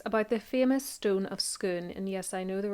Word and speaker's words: Scone: He's speaking, of course, about the famous stone of Scone, and yes, I know there are various ways of pronouncing it, but I'm going with Scone.